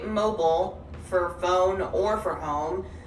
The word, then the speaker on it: Mobile: If I'm referring to the place in Alabama, mobile. I'd say mobile for phone or for home, and mobile for mobile.